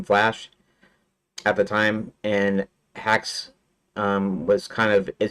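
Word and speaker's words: Haxe: that kind of hacks so it might have originally meant um been pronounced hacks but um anyways haxy that's what I pronounce it best game development framewor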